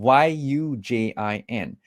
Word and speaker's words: Yujin: So first of all, my name is spelled in a very interesting way. It is Eugene, Yujin. Now, I know most of you know the standard Eugene as in Eugene, but mine is actually a Chinese name.